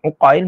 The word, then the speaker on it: Uqail: Ain qf ya lam kita boleh baca Ail ataupun uqail tapi kalau barisnya depan uqail macam tu sirah tasir uqil Dia